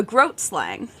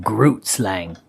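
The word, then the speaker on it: Grootslang: I am Groot slang. It really is spelled like Groot slang, but it's pronounced like Groat slang.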